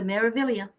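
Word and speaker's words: Meraviglia: That it has a G in it, but it's not pronounced Meavelia. We found out we went on the Meavilia.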